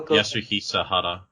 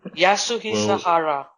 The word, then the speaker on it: Yasuhisa Hara: His name is pronounce. Okay, like you go. Yasuhisa Hara. I just call him Yaha-sama, but what's his actual name? Yasuhisa Hara.